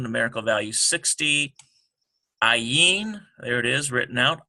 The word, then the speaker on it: Ayin: And you'll notice this is because an ayin is a silent letter. So that means that the letter itself does not have any sound except for whatever vowel pointing is around it.